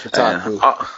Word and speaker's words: Kotaku: Yeah, that's Kotaku.